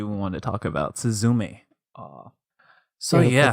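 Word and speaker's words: すずめ: want to talk about suzume uh so yeah the accent on the last syllable suzz Suz um it's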